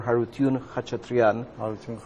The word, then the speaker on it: Harutyun Khachatrian: is a postumus postumus homage to Dr Dr harun katrian I hope I pronounced the name yes that's right he was